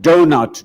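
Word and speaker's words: doughnut: the start of it we spell the word donut d-o-u-g-h-n-u-t why only to not actually pronounce three-eighths of the letters donut d-o-n-u-t it should be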